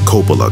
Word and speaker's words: Coppola: I say Coppola.